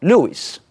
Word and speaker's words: Lewis: donner en pays anglophones luis qui est en réalité la prononciation anglaise de louis et c'est lewis w